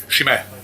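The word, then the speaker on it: Sime: what's your name sir shim sh shim sh how are you spell that s i m e doesn't make any sense but it's a shim okay produc from the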